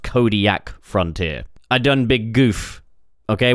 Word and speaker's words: Kodiak Frontier: It's not pronounced Kodak Frontier. It's pronounced Kodiak Frontier.